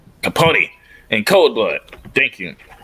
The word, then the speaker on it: Capote: Truman Capote. Capote in Cold Blood.